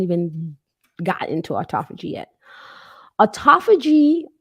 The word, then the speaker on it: autophagy: gotten into autophagy yet autophagy or some people pronounces it autophagy I'm going to pronounce it autophagy autophagy is literally cellular